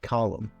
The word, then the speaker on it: column: So if you check here, sometimes when we have the MN, we pronounce like regular M, column, autumn.